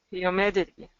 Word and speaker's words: humidity: middle okay good so when you're doing humidity we want it to make sure it's not humidity Med but mid mid do you hear when